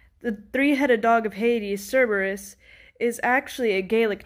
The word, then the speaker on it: Cerberus: in the english alphabet the c in cerberus actually makes a k sound so his name would